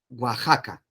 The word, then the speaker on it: Oaxaca: de méxico méxico waka waka para ustedes huasaca oaxaca y ustedes dicen wash y acá en méxico pues ese es la pronunciación igual de la x aquí como si